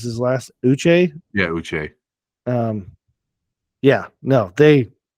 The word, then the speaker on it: Uche: that Josh, I don't even know how to pronounce his last, Uche.